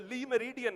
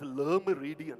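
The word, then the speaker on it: Le Méridien: Everybody used to say Lee Meridian. ये बाद में पता लगा it's Le Meridian, not Lee Meridian.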